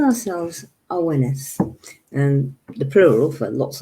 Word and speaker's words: Awenydd: We call ourselves Awenydd, and the plural for lots of us, a group of us, is Awenyddion. And it's spelled Awenyd. I know, doesn't sound in the least like that, but you Awenith.